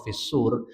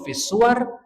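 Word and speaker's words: في الصور: para ulama yang menguatkan menggunakan cara baca wa nufikha fis-sur menilai bahwa cara baca wa nufikha fis-suwar itu tidak tepat, keliru. Ya. Sehingga jarang kita dengar. Dan di mushaf-mushaf jarang yang model harokatnya fis-suwar, tapi yang ada fis-sur.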